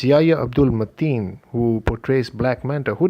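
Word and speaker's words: Yahya Abdul-Mateen: didn't expect which is yah-yah-yah Abdulle Mateen I'm sorry if I got that name wrong it's Yaya Abdul Mattia who portrays Black Manta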